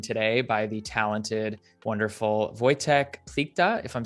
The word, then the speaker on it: Wojtek Plichta: I am joined today by the talented, wonderful Wojtek Plikta, if I'm saying that correctly. Wojtek, please correct me if I just butchered your name.